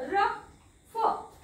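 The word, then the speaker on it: rough: यु जी एच फ ओ यु जी एच रफ टफ okay रफ टफ हे जे शब्द आहेत याच्यामध्ये फ चा उच्चार होतो ओ चा होत नाही कारण दुसरं एक रूल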